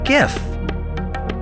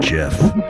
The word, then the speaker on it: gif: says just like NAR a gif has a hard G stands for graphic gif so it isn't jiff okay somebody alright we're